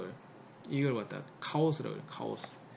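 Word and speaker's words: chaos: 카오스. 케이어스. 그리스어로는 카오스고 영어권에서 가져가가지고 자기 마음대로 발음을 했어요. 케이어스라고 그래요. 케이어스. 자 이렇게 발음하면 안 됩니다. 이 영어식으로 발음하는 거고 정확한 발음 카오스다.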